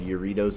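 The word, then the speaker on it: Jarritos: another product in mexico called yoritos it's a soda spelled with the j it's really good their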